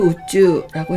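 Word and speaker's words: 宇宙: 집우와 우편우와 넉넉할 우자가 세 자 있는데 집우자는 한국어 음과 일본어 음이 똑같이 우였습니다. 그래서 우주를 우쭈라고 했고요.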